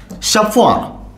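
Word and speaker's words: chauffeur: एफ इ यु आर शफ spelling आणि उच्चार जरा वेगळे वाटतात पण उच्चार समजू नये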